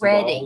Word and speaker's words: Reading: And it is pronounced Reading Reading, Pennsylvania.